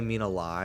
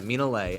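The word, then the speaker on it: Minale: yeah for some reason I heard her say mean a lie in a in a video so I thought that's how she pronounced it but no she said her name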